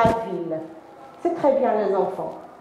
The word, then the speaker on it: ville: Deux L, mais on ne prononce pas « je », on prononce « il », la ville.